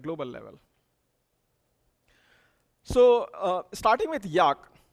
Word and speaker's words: Jaak: So starting with Jaak, his name is pronounced as J-A-K, Jaak Panksepp.